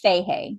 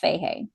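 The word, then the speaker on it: Fahey: Yeah, I'm pretty sure his name's pronounced Fehee. Jeff Fehee.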